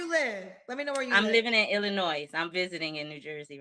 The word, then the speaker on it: Illinois: live I'm living in Illinois I'm visiting in New Jersey right now Illinois um listen I get all words wrong all the time but it's Illinois the S is silent yes okay all right